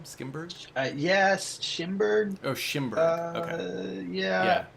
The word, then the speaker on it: Schimberg: Yeah, I haven't seen it, but yeah, A Different Man, which or by Aaron Skimberg. Is that how you say his name? Skimberg? Yes, Schimberg.